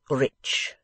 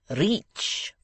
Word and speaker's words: rich: "Our English adverbs do not terminate in mong, and we pronounce the ch as if there were a t before it. We say rich." "Reach," remarked the foreign gentleman.